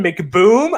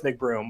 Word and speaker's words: McBroom: in play uh ryan mcboom i know it's mcbroom i'm saying it wrong intentionally ryan mcboom the boomstick